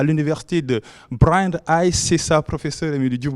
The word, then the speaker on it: Brandeis: Et j'ai bien prononcé le mot Brandeis. Oui, vous l'avez bien prononcé.